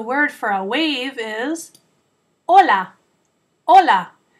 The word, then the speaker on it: hola: wave is hola hola it's just like saying hello in Spanish but when you're saying that kind of Ola we write it with the silent letter H at the beginning so that we can tell the difference between the two words Ola with an h